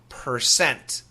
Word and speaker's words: percent: So percent 88% 49% 28%. Now when we say it fast many times the t disappears.